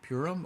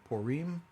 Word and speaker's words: Purim: might be interested in it's called purim or purim depending on what part of the world you're from how you pronounce it uh i may actually